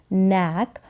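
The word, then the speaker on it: knack: फिर यहाँ पर जैसे मैंने बताया K और N साथ में आएगा तो K जो है वो साइलेंट रहेगा, तो N को हम प्रोनाउंस करेंगे, N को पढ़ेंगे, N को न पढ़ा, N का उच्चारण न और एक, नैक।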